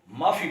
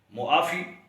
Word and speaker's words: معافی: تلفظ ہے۔ ایسے ہی معافی، یعنی عین کو بھی پڑھنا چاہیے، اکثر لوگ معافی پڑھتے ہیں، عین کو دبا دیتے ہیں تو یہ غلط تلفظ ہے۔ معافی درست تلفظ ہے۔ اور ایک اور لفظ